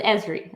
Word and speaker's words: Esri: i figured i'd say it wrong so it's esri okay got it good to know thanks so